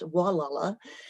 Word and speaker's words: Gualala: That's the first three letters of Gualala, or pronounced Wallala.